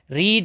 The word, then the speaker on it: read: रीड, रेड, रेड, केवल pronunciation change होता है, स्पेलिंग नहीं।